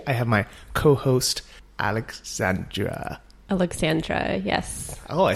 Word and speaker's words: Aleksandra: Aleksandra, yes.